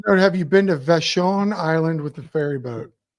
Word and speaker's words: Vashon: so I don't know from Vashon is that how you say it yep okay I can read